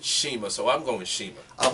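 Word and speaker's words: Cima: Well, they spelled it Sema, C-I-M-A, but they pronounced it Shima, so I'm going Shima. I've also heard it pronounced as Sema.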